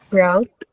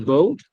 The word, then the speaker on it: bought: Oke, kalau misalnya verbnya itu buy, what is the third form of buy? Brought. It's bought. Ya, bukan bought, tapi bought.